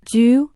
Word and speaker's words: 车: The Chinese character che is a pictographic character. It has two pronunciations. Ju emerged later.